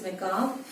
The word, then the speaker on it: macabre: In British it is macabre. Almost the R is silent, and when it comes to American, they pronounce the RE also with that.